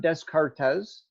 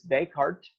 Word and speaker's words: Descartes: It's not Descartes, okay? It's Descartes is how you say that, Rene Descartes.